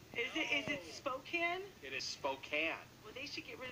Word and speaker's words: Spokane: It is Spokane. Well, they should get rid of that E. The E is silent, though.